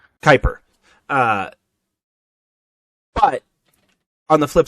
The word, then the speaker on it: Kuiper: is in the the cooper belt is it the cooper belt i know i'm pronouncing that wrong uh kuiper uh but on the